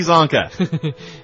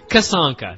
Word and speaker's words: Kasanka: L.T. Kasanka. L.T. Zonka. Kasanka. That's how it's pronounced here in the Empire.